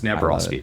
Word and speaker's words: Napieralski: We're going with the Americanized pronunciation here, but it's Napolski.